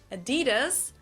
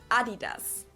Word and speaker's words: Adidas: were referring to because they usually pronounce it Adidas. And in Germany, we say Adidas. Adidas. Adidas. Super different.